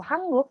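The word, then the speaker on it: 한국: dengan hanggugo itu diambil dari nama negaranya yaitu hangguk yang ini Oke dan o o-nya sendiri adalah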